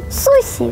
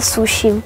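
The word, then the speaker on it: 寿司: Ми неправильно вимовляємо назву цієї чудової страви. Адже японці називають її сусі, а не суші.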